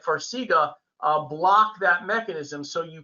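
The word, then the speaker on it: Farxiga: with edema yeah so you pronounced it correctly it's farsiga farsiga is one of these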